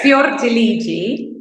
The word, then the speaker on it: Fiordiligi: It's Fiordiligi.